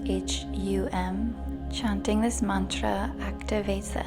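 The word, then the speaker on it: Ham: the throat chakra is hum it's spelled h-a-m but pronounced h-u-m chanting this Mantra activates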